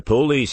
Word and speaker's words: police: It's the police here asking for you. Police with heavy emphasis on the first syllable and light on the second, the way they say it in Glasgow.